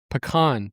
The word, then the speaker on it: pecan: Peacon pie. Pecan pie. Oh, pecan pie. That's how you say it down there.